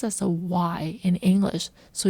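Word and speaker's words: dì: we'll call her as yi. Yi. And also note that the letter d in Vietnamese is sounds as a y in English. So, yi is pronounced like yi with a soft downward tone.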